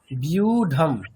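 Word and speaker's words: ব্যূঢ়াং: আচ্ছা, ওটার উচ্চারণটা কেমন হবে দেখুন, বয় জফেলা দীর্ঘ উকার, যদি আমরা ইংরেজিতে একটা স্পেলিং কল্পনা করি, ঠিক এরকম বি ই ইউ উচ্চারণ করবেন, বি ইউ, তাই তো? বিউ। বিউ এরকম বলবেন, তাই তো? হ্যাঁ লাইক দ্যাট, ওই রকমই বিউঢম।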